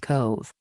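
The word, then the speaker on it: Cobh: offers sailings with stops in Southampton Kove Ireland pronounced Cove Cove is the port for Cork Ireland from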